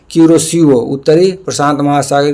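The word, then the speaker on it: Kuroshio: क्यूरोसिओ उत्तरी प्रशांत महासागर की किरोसिओ गर्म जलधारा है। इसको कई तरह से लिखे हुए मिलेगा। क्यूरोसियो किरोसियो ऐसे-ऐसे लिखा रहेगा। तो आप समझिएगा किरोसिओ बस आ रहा है प्रोनाउंसिएशन।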